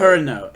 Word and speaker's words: Kureno: Kureno is how you pronounce that name. Kurino.